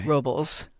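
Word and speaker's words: Robles: Robels. I always try and pronounce it Spanish. I know it's Robels.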